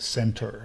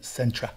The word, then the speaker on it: centra: Yes, and just to point out, you mispronounced it. You said the unit center. It's the unit centra. Centra. That's a good point. It is spelled as centra.